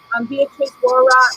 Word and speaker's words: Beatrice Wara: I hope that you were able to listen to Beatrice Wara and I said her name correctly, right? Yeah, you said it right.